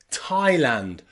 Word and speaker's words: Thailand: Hawaii or even Thailand here the A and the I are pronounced I I Thailand Taiwan or Hawaii with that